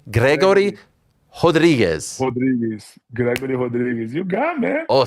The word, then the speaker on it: Rodrigues: Rodrigues. You got it. Gregory. You have to roll the R there. It's a little tougher for us gringos, right? Gregory Rodrigues.